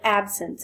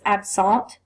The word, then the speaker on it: absence: called an absent and you don't pronounce it absence it's AB salt formerly called petit mall